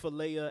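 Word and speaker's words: φιλία: like to think of philea as the i the way i remember how to say it is i think of the place of brotherly love chick-fil-a hey man somebody somebody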